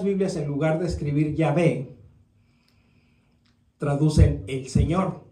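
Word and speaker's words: Yahweh: todas las letras mayúsculas Entonces esta a realmente no se pronuncia tan abierta como en español se es como medio camino entre la a y la e e Entonces si si la pronunciamos como e más que como a y obviamente la J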